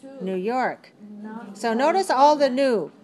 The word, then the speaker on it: New York: Never pronounce the stress on the word new. Always pronounce it on the next word. All right? So don't say New York, New York. That's not English. Maybe it's good in your language, but it's weird in English.